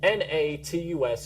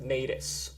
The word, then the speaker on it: Natus: Natus is pronounced Natus, or you could say Natus as well. It doesn't really matter. To me, it doesn't matter.